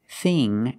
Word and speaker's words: thing: like thing and think the dictionary shows the word thin with the same pronunciation as thing and think but they are different th h i n thin is a short I sound it I thin like this is this is thin but with ining G and I in K we use the long e sound like green beans thing and think use